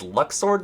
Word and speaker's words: Luxord: And like, you got Lux, Lush, you know, like, well, actually it's Luxord, right? I haven't been saying it right this whole time, but it's like one